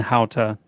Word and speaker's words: Hauta: So Launa and Hauta, that's how I pronounce it.